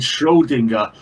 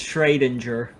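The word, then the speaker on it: Schrödinger: cats no so I shake my head named Schrodinger one and killed it and put it in a box Jesus Christ that's fine who said that it's schradinger who said that driver's standing there menacingly I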